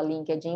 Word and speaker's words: LinkedIn: Academy, e também no LinkedIn, que em português a gente fala LinkedIn, mas em inglês a pronúncia correta é LinkedIn, ok?